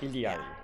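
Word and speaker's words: Illari: And the double L in Quechua is pronounced with kind of like an ly sound, so li, if that makes sense. Ili. So that's why it's Iliari. Iliadi. Iliari.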